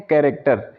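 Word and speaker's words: character: यानी कि जब किसी वर्ड में सी एच आए और सी एच के बाद ए आर आए और ए आर के बाद कोई वॉवेल दिया हो तो वहाँ पर हम सी एच का प्रोनाउंसिएशन होता है वो हम क के रूप में करते हैं।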